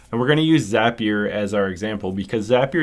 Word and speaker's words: Zapier: It's actually pronounced Zapier according to their Twitter, but it looks like Zapier because it's similar to the word rapier, the old swords.